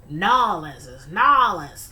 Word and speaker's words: New Orleans: All my life, always called it New Orleans. And then I started hearing people say, Nolans. I'm like, okay. Don't kill me. Okay, I'll pronounce it like that. But yeah, I know a lot of Southern people, they say Nolans.